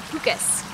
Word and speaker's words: Pukus: My last name is pronounced like Lucas but with a P. So Pukus.